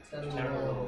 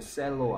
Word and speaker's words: cello: 그러니까 얘 어떻게 읽죠 얘? 첼로. 그렇죠. 셀로 아니죠. 첼로죠.